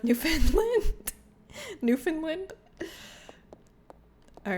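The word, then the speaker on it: Newfoundland: Jean Jen, please never pronounce it Newf Foundland ever again. It's pronounced New Finland.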